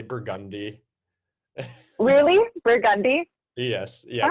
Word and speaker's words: Burgundy: instead of Burgundy, we say Burgundy.